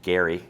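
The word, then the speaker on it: Gerry: Her 1788 pamphlet opposing the constitution was so powerful it was wrongly attributed to Eldridge Jerry who we're going to talk about in a second which is actually pronounced Gary and we're going to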